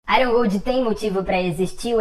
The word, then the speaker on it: Iron Gold: só para um disclaimer eu sei que a pronúncia correta é Iron Gold eu só gosto às